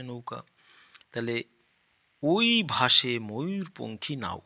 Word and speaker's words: পঙ্খী: তাহলে ওই ভাসে ময়ূর পঙ্খী নাও। উময় দীর্ঘী উময় দীর্ঘ পঙ্খী পঙ্খী। উমর উচ্চারণ অং এর মত।